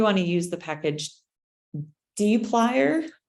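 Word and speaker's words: dplyr: to use the package D plier I call it dippler but I think it's supposed to be pronounced a d plier and um so you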